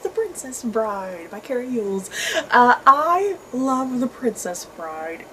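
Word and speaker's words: Elwes: used to pronounce it el juez but someone told me it's like mules or something um so yeah this is nonfiction about the making of The Princess Bride by Carrie eul's I love The Princess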